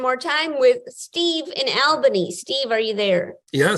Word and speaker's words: Albany: need to be pedantic it's pronounced uh uh Albany and I only know this because there was a huge uh campaign by the the tourist industry uh there was a slogan that said we got it all in Albany just to make people uh remember uh the correct way it's pronounced it's really helpful I'm